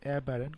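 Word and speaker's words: aberrant: তো এই কারণে চিন্তা করতে পারেন এভাবে যে অ্যাবারেন্ট কথা ওয়ার্ডটাকে আপনারা ভাঙাবেন, ভাঙে এভাবে উচ্চারণ করবেন এ বিয়ার অ্যান্ট, মানে একটি অ্যান্ট বিয়ার খেয়েছে তারপর সরাসরিভাবে হাঁটছে, এটি বা অ্যাবারেন্ট।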